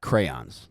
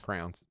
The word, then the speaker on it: crayons: How do you say that? Crayons. Crayons? Crowns. Crowns. I think I said crayon. Crayons. But it's You think crayons. you say it's crowns?